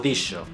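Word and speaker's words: dixo: llevaban la X y esta X se pronunciaba de una manera diferente a la que nosotros conocemos. se pronunciaba sh en palabras como mensage o dicho.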